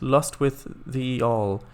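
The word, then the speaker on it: Lostwithiel: And Lost with Hill is pronounced Lost with the All.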